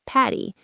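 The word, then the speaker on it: Paddy: The correct shortened name for Patrick, which comes from the Irish name Podrick, is Patty, spelled P A D Y.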